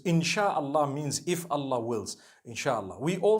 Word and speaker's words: inshallah: it together inshallah inshallah but we know in the Arabic it's three separate words if Allah Wills right how do you say create Allah you would say is the it is the instruction right the command in means to create no one says in Allah they say inshallah that's what it is